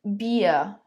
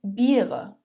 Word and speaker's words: Bier: It is pronounced as I. Zum Beispiel, for example, das Bier, die Biere, das Bier, die Biere.